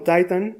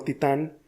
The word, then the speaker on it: Titan: Lo único que cambia es la posición del acento, así que puedes elegir. Pronunciarla como Titan es correcto y como titán también lo es.